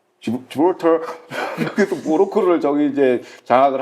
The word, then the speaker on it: 지브롤터: 발음을 잘하세요. 예. 예, 지브랄티. 예. 지브롤터 그래서 모로코를 저기 이제 장악을 한 건데 저기를 이제 그래서 이스라엘이 거점으로 활용하고 있고요.